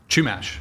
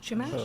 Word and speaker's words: Chumash: Yeah, we mispronounced the chumash. I thought it was Chumash. Chumash.